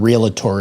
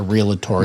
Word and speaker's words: realtor: That's like people saying realtor. It's not a realator.